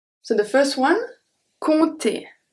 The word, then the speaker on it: compter: So the first one, compter. Compter, so I don't pronounce the P.